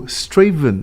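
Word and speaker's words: Strathaven: I what I saw so straven that's interesting it's a bit like Leicester as well isn't it so you've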